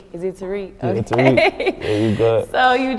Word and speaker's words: Tariq: I have a really heavy accent, so I'm going to try to pronounce his name or whoever's name. Tariq. Is it Tariq? Okay. Yeah, Tariq.